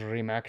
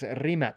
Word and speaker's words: Rimac: productos bucatti y productos remac sí y no lo estoy pronunciando bien Es remat verdad remat sí es la forma croata de pronunciar remat okay Así que Platícame